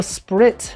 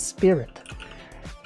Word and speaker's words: Sprit: Oh, Sprit, not Spirit.